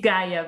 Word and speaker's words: Gaia: Yeah, you pronounce Lee very Dutchy, but it's Gaia, but thank you.